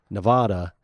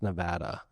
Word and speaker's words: Nevada: right before the show they're like uh it's pronounced Nevada and so I had